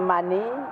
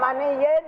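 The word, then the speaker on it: مَنِيٍّ: Ada tanwin yang hilang. Kita baca min mani yumna. Salah.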